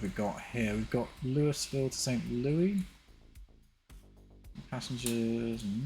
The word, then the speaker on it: Louisville: By the way, St. Louis is pronounced St. Louis, but Louisville is Louisville.